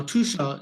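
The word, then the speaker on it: Tuscia: in the heart of tusha now tusha is actually spelled t s c i a but it's pronounced as t o o s h a so welcome Federica it's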